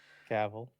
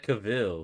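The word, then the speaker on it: Cavill: But in terms of Is it Cavl or Cavil? Henry Caval or Henry Cavil. Caval. It's Caval. Oh, okay. Yeah, I mispronounced it for years, too.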